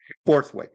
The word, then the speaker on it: Borthwick: Borthwick. I always mispronounce it. Borthwick, b o r t h wick.